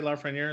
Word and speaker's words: Lafreniere: Am I saying it right, by the way, Lafreniere? Lafreniere? Yep.